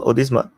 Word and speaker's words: Odisha: come again yeah odma is it is it pronounced odisa yeah I I at accent your accent is